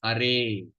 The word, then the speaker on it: Hare: they call it pronology or vocative case is pronounced as Hare.